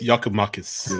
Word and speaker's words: Giakoumakis: Pronunciation, Sydney. Say it again, Sydney. Say it again. Yorgos Giakoumakis.